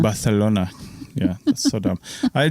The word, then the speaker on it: Barcelona: It's Barcelona. Barcelona.